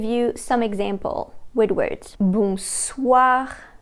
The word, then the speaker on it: bonsoir: The sound wa can be spelled with the letters O-I. The way you pronounce this sound is the same way as the word what in English, this wa sound.